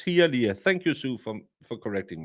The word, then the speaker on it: Hialeah: I have been taught by Valhalla, who is a cunning linguist, that in Americas you just pronounce every letter as it's written. So Hialeah. It's Hialeah.